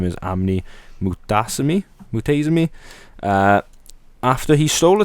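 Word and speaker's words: Amney: Pronouncing the guy's name again? Amni, A-M-N-E-Y, Mutasimi, Amni.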